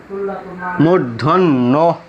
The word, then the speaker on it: মূর্ধন্য: 3 নম্বর নিয়ম, শব্দের হ বর্ণের সাথে যদি দন্ত ন ফলা থাকে তাহলে এই হ বর্ণের উচ্চারণটা সুপ্ত থাকে, আর ইংরেজি বর্ণ NHO এর মিলিত উচ্চারণ হয়, যেমন চিহ্ন, মূর্ধন্য।